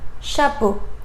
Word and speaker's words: chapeau: And the last combination is E, A, U together, and you should pronounce it O. For example, chapeau.